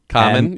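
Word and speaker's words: Khaman: K H A M A N. Common. Yeah, I can see that. Looks like shaman. Common. Okay. M A L U A C H. I think I had the common right.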